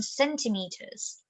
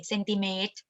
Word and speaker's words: centimeters: this word out because in thai you know it's it's pretty normal for a thai student to say sentiment even though when they're speaking english they say cindy mead but falang will not understand you you have to say centimeters centimeters centimeters again it's just like